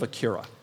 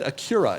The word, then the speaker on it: Acura: And I want to start with the pronunciation of Acura. Yes. Last week on the pod, I said Acura instead of Acura.